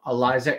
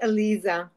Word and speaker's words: Aliza: worldwide it is my distinct pleasure to welcome Eliza to the conversations with Allan hello there hi thank you so much for being here it's pronounced Alisa ala ala yeah isely and it means it